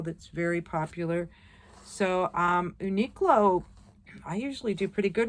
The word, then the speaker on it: Uniqlo: pair oh no not a pair this is Uniqlo Uniqlo okay niklow and it's spelled u-n-i -q-l-o there's no U after the